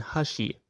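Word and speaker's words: 箸: For instance, in Japanese, hashi means bridge, and hashi means chopsticks.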